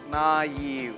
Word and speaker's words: naive: For example, naive. Here, N-A-I-V-E, naive, this is not diphthong, but it has to be pronounced separately.